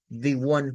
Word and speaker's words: one: Debemos tomar en cuenta que se pronuncia con una W, es decir, como que fuera una W, luego el sonido de app, por ejemplo, de la palabra app, y luego el sonido de una N, one, the one.